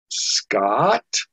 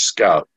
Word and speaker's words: Scout: to be able to my name was always pronounced uh scott i know that's me i go up and they go is it scott and i go no it's scout oh i thought maybe